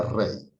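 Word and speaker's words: Reye: Se escribe Rey, se pronuncia Rey.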